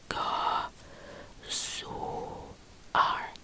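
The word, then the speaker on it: gëzuar: And remember the oo right here. It's the same as when you say soon. The same. Oo, ga, su, ar, ar. And this R right here may sound the same as R because it probably is the same. It sounds exactly the same. Ga, su, R. Ga, su, R. We divide that in 3. 1, 2, 3.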